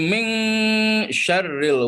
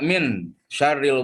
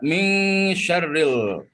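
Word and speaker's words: مِنْ شَرِّ: tiga harkat disini ini Ming sherrill waswasil khannas Jangan dibaca Min syarril waswasil khannas tapi harus dibaca Ming syarril waswasil khannas kemudian lanjut yang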